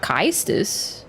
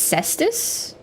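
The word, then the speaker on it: Caestus: and it hurts um it's cestus but there's a a in there next you're going to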